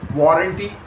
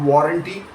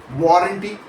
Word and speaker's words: warranty: Warranty not warranty with equal stress on both parts but war n with the stress landing clearly on the first syllable. Say it slowly a few times. Warranty. Warranty.